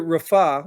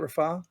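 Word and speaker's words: Rafah: was he Biden warned Israel not to enter Rafa is that how you say it Rafa that's exactly how you said it yeah they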